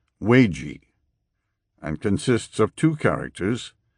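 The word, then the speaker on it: 危机: That outcome is reflected in the Chinese written character translated as crisis, which is pronounced weiji, and consists of two characters, the Chinese character wei, meaning danger, plus the Chinese character ji, meaning crucial occasion, critical point, opportunity.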